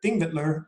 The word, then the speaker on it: Þingvellir: But Þingvellir is how they say it. Every Icelandic word, you emphasize the first syllable. Every Icelandic word, as far as I know, you accent the first syllable.